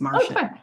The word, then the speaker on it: Marcia: But with that, I realize that I mispronounced your name and it's Marcia.